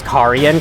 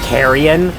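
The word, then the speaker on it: Carian: yeah yeah okay nice it does feel kind of weird for me to pronounce it as Kian cuz I I think I would have pronounced it as Kion if I uh if I didn't hear the pronunciation from the voice acting in the game then again the game's voice acting might not be 100% correct with the pronunciations but you never know like I think Karan sounds decent and besides if it's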